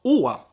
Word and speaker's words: Å: So Å, that's the name of the letter, is pronounced just like our O in some cases, like I said before.